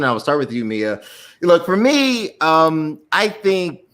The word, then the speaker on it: Mia: And last but not least, and I got the name pronunciation correct, Mia. Yes. Did the Mamma Mia help you out?